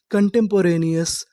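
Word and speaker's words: contemporaneous: यानी आपको इंग्लिश में कहीं पर ओ यूएस लिखा मिले तो आपको क्या पढ़ना है? अस। तो हमारी पूरी मीनिंग क्या बनी? कंटोरेनियस। कंटेंपोरेनियस कंटेंपोरेनियस।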